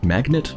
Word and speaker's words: magnate: Glick railroad man meg how do you pronounce that railroad magnate magnate I know what it means but much of its pronounced different from like you know a magnet you put on your fridge I'm from the business